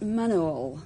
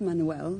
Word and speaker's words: manual: Well, it's actually pronounced manual, not manuel. It's not a Spanish waiter, it's manual.